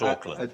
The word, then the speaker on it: Auckland: Not Auckland. But not Auckland, oddly enough. That's spelled with a C, a little redundant C, A-U-C-K.